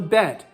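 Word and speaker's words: בית: is the bet okay the bet is pronunciated like in boy or uh broke or bail just the letter b but there's also another sound that goes along with it okay so there's two sounds shiny there's two sounds okay the second sound the chanee cold which is voice the second voice of it is one that's pronunciated with a v sound and something very soft like van or vo or vase and what's the difference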